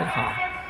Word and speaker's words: Ha: on so Soha one good thing about your last name is it's pronounced exactly the same in English as it is in Korean from what I can gather so um I looked it up just to see if there was any differences than what it looks like and sure enough it just said ha I think Kim and